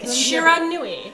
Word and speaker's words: Shiranui: you're gonna have to tell me how to pronounce it. Shiranui.